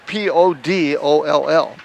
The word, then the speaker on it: Podoll: Podol, of course, is Podoll, like the doll.